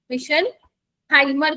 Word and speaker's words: Meisenheimer: तो इस वाले कॉम्प्लेक्स, इसको हम क्या बोलते हैं, इसको हम बोलते हैं मिशन हाइमर कॉम्प्लेक्स, नाम है इसका।